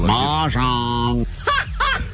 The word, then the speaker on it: Mahjong: Say it right, Klein. Mahjong.